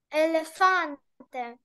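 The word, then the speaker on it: elefante: Наголос на передостанній склад, нагадую. Елефанте.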